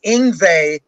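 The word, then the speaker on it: Yngwie: written really written in ingva and in parentheses i put rhymes with stingray because nobody knew how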